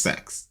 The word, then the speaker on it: CeX: because the name of the shop is pronounced sex, right?